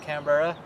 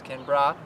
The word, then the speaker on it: Canberra: seized from Canberra Australia it's not like as Americans say it's not Canberra it's Kimbra yeah oh so hurt